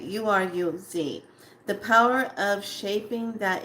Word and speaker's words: Uruz: But this rune is called Uraza. I want to spell it, say it right. Uruz.